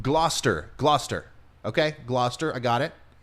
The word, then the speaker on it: Gloucester: Okay, so Paul said it's pronounced Gloucester. Gloucester.